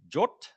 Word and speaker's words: JWT: If you go read the spec, you're meant to pronounce this jot, I believe is the correct pronunciation. And this is kot, is that right? Which sounds very Nordic to me, jot and